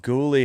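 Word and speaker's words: Guhle: Let me I I thought I heard it pronounced ghouly and then on the pregame I wasn't sure that's how it was said. It is just ghoul.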